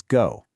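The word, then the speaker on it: 五: In Korean, the Hanja is pronounced o. Right below it, the Japanese on'yomi reading is go.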